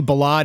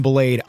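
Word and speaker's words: Ballade: name multiple times, and apparently Balad is like technically how it should be said. But a lot of people are calling him Blade. I'm calling him Blade because Balad sounds pretentious.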